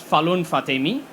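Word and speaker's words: Falon Fatemi: Falun Fatemi. Did I pronounce that right?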